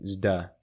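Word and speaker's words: ζ: The d sound plus the y marker becomes a zeta, pronounced like zda, in whatever time period I'm trying to emulate at the moment.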